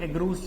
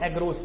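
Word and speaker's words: agarose: बेटा रखेंगे, क्या लेंगे, एगरोस jail, एगरोस jail. Spelling को जरूर देख लें, एगारोस बोलते हैं, वैसे लोग बोलते हैं इसको एगरोस, तो एगरोस गलत है, एगारोस बोलना चाहिए, एगारोस जेल।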